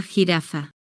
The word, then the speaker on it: jirafa: Por ejemplo, la palabra jirafa. En muchos idiomas la letra J suena diferente, pero en español tiene un sonido fuerte y diferente.